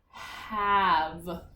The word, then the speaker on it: have: Remember, it's kind of like some. It has this silent E at the end. Oops. Have.